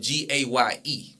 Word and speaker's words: Gaye: Yeah, it's still pronounced the same way.